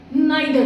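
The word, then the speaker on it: neither: confusion भी रहता है सम pronounce it's called नीदर नॉर and some pronounce नादर नोर so what is द correct pronunciation of this word actual friends both are corrects नीदर नर is also correct and नाइ दर नर is also correct okay what is द confusion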